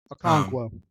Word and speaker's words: Okonkwo: I can't even pronounce his name. Okonkwo.